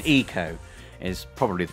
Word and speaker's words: Ico: there's always arguments over the correct pronunciation. Ico is probably the correct pronunciation.